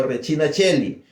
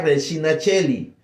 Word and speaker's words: Regina Coeli: el Regina Coeli o Regina Cheli, ¿verdad? Se escribe Regina Coeli, pero se pronuncia Regina Cheli, porque la C en latín se pronuncia como CH, o sea, como che.